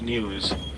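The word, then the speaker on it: gnu: are also known as news because of the sound that they make written G and you pronounce new all right lots and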